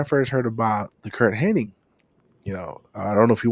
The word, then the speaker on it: Hennig: Kurt Hennig? Yeah, how do you spell his last name? Henning.